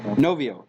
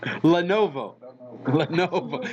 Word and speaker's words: Lenovo: Novio. Yeah, right. Now you got me doing it. It has it. Lenovo.